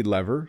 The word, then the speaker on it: lever: Back to lever, we do say lever sometimes, or lever. In Canadian English, both pronunciations are acceptable. Lever's probably the most common.